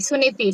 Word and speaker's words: Suniti: Uttalapada. Yeah. Uttanapada's first wife? Suriti. Suliti. Suniti.